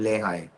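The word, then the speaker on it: Lehigh: There's a school called Lehi uh and spell it.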